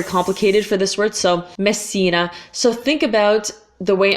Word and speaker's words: Messina: box but you just you just need to hold the S basically it's not it's not very complicated for this word so Messina so think about the